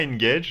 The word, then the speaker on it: Engage: peu bizarre parce que ça se prononce comme le Nokia une gage alors c'est pour ceux